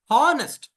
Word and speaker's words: honest: Howard was an honest man.